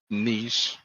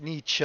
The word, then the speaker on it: Nietzsche: skip when you said niche yeah well i said nietzsche because that's the americanized version but it's nietzsche i didn't hear the second syllable and i know this